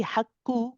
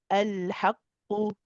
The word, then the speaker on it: الحق: So if we say hak, for example, if we say hakku, ku, ku, ku, this would be incorrect. This is the wrong qaf, the wrong kaf. We want to pronounce qaf, qa, qa, qa.